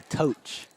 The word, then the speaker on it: Toch: Congrats to the Tosh family. Oh, and a little side note. Oh, so had a family member over. It's actually Toch. Toch. Toch. Supposed to rhyme with coach.